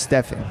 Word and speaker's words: Stefan: Yeah, it's pronounced Stefan.